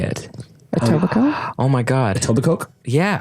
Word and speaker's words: Etobicoke: Might be like Etobicoke or something, but it's Toronto. We're going. That's how you say it. Etobicoke?